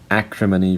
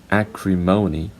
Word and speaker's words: acrimony: And the last one, acrimony for British, acrimony for American English.